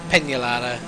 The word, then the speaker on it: Peñalara: Or Peñalara, it would be pronounced.